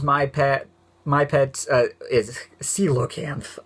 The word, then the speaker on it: coelacanth: pet my pet is coelacanth I keep wanting to say Cola cans because that's why it looks like I mean see you o kids that's really how you say it are you kidding me whatever but I did